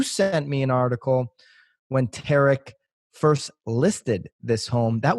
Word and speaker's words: Tarek: Tariq? Tarek. Tarek. Say it's spelled like Tariq.